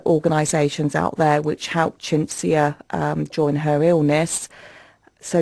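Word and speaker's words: Chintzia: So, Chinsia, that's an unusual name. That's spelled C H I N T Z I A.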